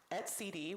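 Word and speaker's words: etcd: responsible for exposing the kubernetes API for use at CD which I am now pronouncing correctly in this talk which is a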